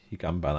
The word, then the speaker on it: Higanbana: Weil normal auf N vor dem B, sage ich jetzt mal normalerweise zum M. Drum Higambana.